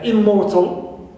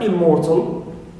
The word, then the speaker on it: immortal: no stress on it also Immortal right Immortal stress is on not on prefix im right but on uh mortal more more right also